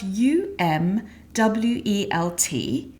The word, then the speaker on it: Umwelt: So, Umwelt is a German word, actually, and it is spelled u m w e l t, and pronounced Umwelt.